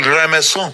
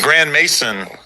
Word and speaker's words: Grand Maison: Grand Maison. I'll bet. Yeah. Which to me, that's the real way to say it. So Gramazon, very foreign. Grand Mason.